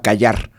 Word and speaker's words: Qajar: En ese momento había una dinastía que se llamaba Qayar. No que te calles, o sea, Qayar, Qajar se escribe.